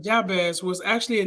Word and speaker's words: Jabez: and we're talking about um the story of Jabez I think that's how you pronounce it some people pronounce it yeah this but I pronounce it as job as I do pronounce the J um and the story